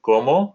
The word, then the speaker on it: cómo: So we could say como. Again, como means how. Accent on the O there.